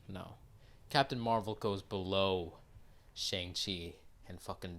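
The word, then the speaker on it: Shang-Chi: not racist it's not racist to pronounce it shang chi or shang chai if you don't know any better it's not racist right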